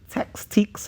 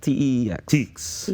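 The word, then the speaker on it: TEEX: Is it TICS? How do you pronounce it? TE ex Yes.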